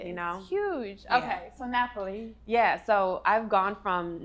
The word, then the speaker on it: Napoli: sorry y'all so wait napi I I say Naples she says Napoli we already know that my pronunciation game on this show I Mis pronunciate